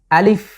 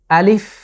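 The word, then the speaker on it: ألف: তো শুরুতেই প্রথম যে লেটার সেটা হলো আলিফ। আলিফ। একটু যদি খেয়াল করেন প্রিয় দর্শক, এই বর্ণটি বা লেটারটি উচ্চারণে আমরা কোনো টানছি না বা কোনো রকম টান হচ্ছে না।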